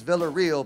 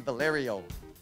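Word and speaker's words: Villarreal: that way cuz they my last name is Villa real but they don't say it sometimes sometimes they say it like in a nasty way like it's Valerio like Valerio sounds like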